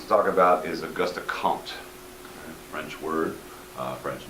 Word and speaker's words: Comte: Very first person I want us to talk about is Augusta Compton. French word, French name, and pronounced Comte, like there's a P in there, even though there is not.